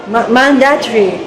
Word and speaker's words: mandatory: I put the stress on man.